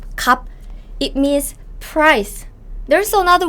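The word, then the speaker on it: 값: cup cup cup is even though there's s sound here it's just b right cup cup it's not cups cups cup cup cup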